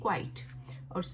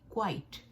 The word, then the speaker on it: quite: क्वाइट क्वाइट का मतलब इसको प्रोनाउंस करते हैं क्वाइट।